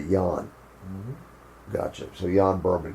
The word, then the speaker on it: Jan: I want to say Jan, spelled with a J. Kind of like John, but Jan.